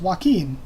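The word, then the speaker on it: Hoaqin: the official translation but I and most people I know pronounce it as Joaquim which would be what J Oh a qu i N so I translate it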